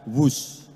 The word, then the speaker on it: Whoosh: o o s h dibaca wus ini di inspirasi dari suara yang melesat dari kereta berkecepatan tinggi ini dan singkatan dari waktu